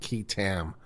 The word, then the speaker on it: qui tam: The question about qui tam. It's spelled Q-U-I-T-A-M.